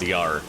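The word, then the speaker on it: Jar: There's actually a there's a brand of dish soap in the Czech Republic called Yar. It's spelled J A R, but they pronounce their J's as Y's, right?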